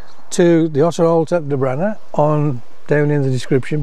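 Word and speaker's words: Dobhranach: Pronounced De Branner.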